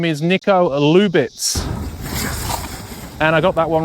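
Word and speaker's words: Nico Lubitz: And his name is Niko Lubitz. And I got that one right for a change. I've been trying to say his name now for about half an hour. Niko Lubitz.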